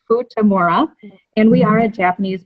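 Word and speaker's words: Futamura: is for tomorrow and no it's not pronounced futurama a kiss that's a question it is food tomorrow and we are at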